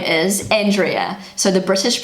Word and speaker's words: Andrea: So everyone in New Zealand calls her Andrea. So I'm gonna try and pronounce that. Okay, one more time with Google. Andrea. Andrea. That was wrong. Andrea. Andrea. That is so hard. That is so hard for a native English speaker to pronounce.